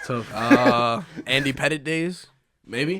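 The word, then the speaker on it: Pettitte: It's spelled petite, but it's Pettit. Oh okay. no, I'm not gonna lie. I wanted you to spell it. No. Spelling bee. It's spelled a little different from petite, So but I just want to think ahead.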